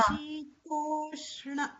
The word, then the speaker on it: शीतोष्ण: No, it's not a full sh. It's adha. Shitoshna.